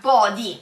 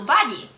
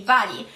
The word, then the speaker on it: body: Terza parola di oggi è body, quindi vedete qui la pronuncia anche di questa parola, non lo pronunciamo all'inglese, lo pronunciamo all'italiana, body, altrimenti dovremmo pronunciarlo body, giusto? Quindi body.